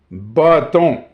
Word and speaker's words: bâton: Donc, bâton. Bâton, dépendant où on vit en francophonie. So, bâton, depending on where we live in the francophone world.